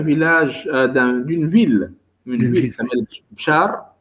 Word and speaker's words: Béchar: Donc, le roman part de l'Algérie, d'un village, d'une ville, qui s'appelle Bchar. C'est ça, Bchar? C'est ça. Ça se prononce comme ça, Bchar. Hein? Béchar. Béchar, voilà.